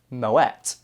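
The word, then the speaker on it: Moët: Now, although it is made in a Champagne region of France, it was started by a Dutch guy, which is why it has the little umlaut over it, and it's actually pronounced Moet.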